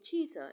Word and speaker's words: cheetah: The H in cheetah is also silent.